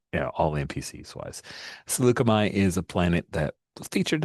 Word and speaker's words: Saleucami: We have set or I have decided to set this game on the planet of Succomi, and that's the pronunciation I'm going with for most everyone saying it all NPCs wise. Slugami is a planet that